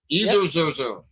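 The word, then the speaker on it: Ezerzer: Eer zer. It's spelled E Z E R Z E R.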